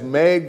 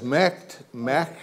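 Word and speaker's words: Maeght: It's sometimes Meg, it's sometimes Mecht. Everybody says it differently.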